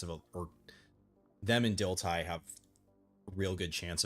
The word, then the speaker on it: Dilthey: German philosopher's name and in German his name is pronounced Dilthey. I'm not German. I don't speak German. I did look it up because yes, it in English it looks like Dilthey, right?